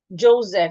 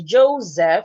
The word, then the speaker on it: Joseph: The name is Joseph. Joseph. It has two sounds. Is that true? Let me confirm. I only know the word has the name as Joseph. The S sounding like a Z.